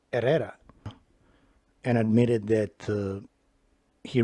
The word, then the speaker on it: Herrera: saw corrupt officer era mispronounce his uh Spanish last name with a hard H he said Herrera I don't know why he's that maybe he's not Hispanic but uh Hispanics or chos or Mexican Americans when they have a name like that they don't pronounce it as Herrera it it kind of looks like they're trying to suck it up to the anglos so his I pronounced his name properly era and admitted that uh